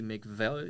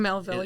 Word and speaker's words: Melville: I believe they're called Brandy McVell. Is that Brandy correct? Melville, yes.